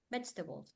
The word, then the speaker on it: vegetables: pronunciation bble balls B vegetable has four syllables vetes but the pronunciation only has three V the balls a